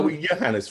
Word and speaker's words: Johannes: is that right yeah Johannes Roberts The The J is is pronounced a y but now I'm storming